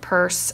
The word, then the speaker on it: purse: is a UR word purse and they have an e on the end of this one it's a silent E why is it there